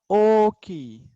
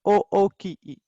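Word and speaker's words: おおきい: तो इसका प्रोनाउंसिएशन होगा ओ की, नॉट ओ ओ की ई, ओ की, ओ की ई.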